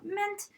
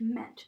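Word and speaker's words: -ment: just as it's spelled I would pronounce this meant and in fact it is pronounced mint so an example would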